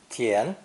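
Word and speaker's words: 田: it's land under cultivation this character is pronounced second tone tien as with most chinese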